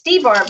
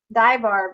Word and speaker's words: DeBarb: at now says um thanks Nessa for saying my name correctly it's debarb right Diane I always call her die Barb oh she's never corrected